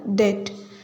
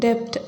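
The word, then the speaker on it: debt: I have a டெட். இதை டெட் அப்படின்னு தான் சொல்லணும், டெப்ட் அப்படின்னு ப்ரொனவுன்ஸ் பண்ணக்கூடாது.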